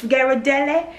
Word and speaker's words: Ghirardelli: 11 ounce uh bag of white chocolate chips Ghirardelli y'all know Ghirardelli Google it so you know how to pronounce stuff all right so I've got the